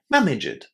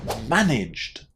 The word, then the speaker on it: managed: If you add any extra syllables here, you will completely change the meaning of the verb.